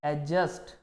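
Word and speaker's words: adjacent: एडजस्ट। क्या पढ़ेंगे? एडजस्ट। जैसे एक और वर्ड होता है इंग्लिश में एडजेसेंट, तो क्या पढ़ेंगे हम? एडजेसेंट। मतलब इसमें डी साइलेंट रहेगा, है ना।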